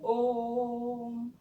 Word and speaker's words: ओम: जैसे कि हम उच्चारित करते हैं ओम, है ना, ओम का उच्चारण करते हैं तो हम इसे थोड़ा लंबा बोलते हैं ना, केवल ओम नहीं बोलते, ओम ऐसे नहीं बोलते।